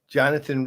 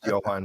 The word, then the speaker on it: Johan: awesome and then recently Jonathan Reed is that how you pronounce it I thought it was Johan well I call him Jonathan it is Johan Reed I've called him Jonathan